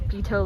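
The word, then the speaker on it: Peyto: Okay, turns out it's actually not PTO lake, guys. It's PTO Lake.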